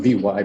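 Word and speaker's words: Vy: and it's spelled V-Y, but it's pronounced V like the letter.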